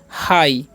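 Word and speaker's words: high: strike ठीक है और एच आई जी एच पढ़ते हैं हम लोग हाई ठीक है जी एच यहां पर साइलेंट होता है ओके अब हम इन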